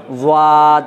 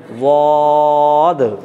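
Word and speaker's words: ضاد: হ্যাঁ, মুখ বেকারে মুখটাকে লম্বা করলেই আওয়াজও, এই উচ্চারণটা কী হয়ে যাবে? বিকৃত হয়ে যাবে, যেমন ওয়াদ, এরকম হয়ে যাবে। কিন্তু উচ্চারণ করতে হবে, পড়েন বদ।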